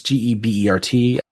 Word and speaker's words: Gerbert: Doesn't have that first R. It's Gebert.